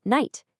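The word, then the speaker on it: knight: You never ever say the K in night. It's just night. Yep. Sounds exactly the same as the word for nighttime.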